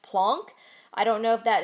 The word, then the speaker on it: Planck: Planck's constant now some people might call this plank or some people call it plunk I was just taught that it's pronounced plunk I don't know if that is just because